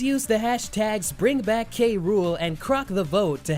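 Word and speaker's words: K. Rool: The letter said it meant the world to see the love for K Rule.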